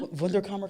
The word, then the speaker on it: Wunderkammer: Wunderkammer Company.